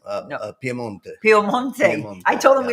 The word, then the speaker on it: Piemonte: Because they said Milano, Piedmont. No. Piemonte.